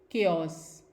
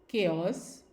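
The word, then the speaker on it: chaos: कुछ और वर्ड्स हम देखते हैं जो कि CH से शुरू होते हैं और उनको हम प्रोनाउंस करते हैं एज क, एज in coarse, coy, केओस and school.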